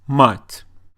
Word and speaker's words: мать: Мат versus мать.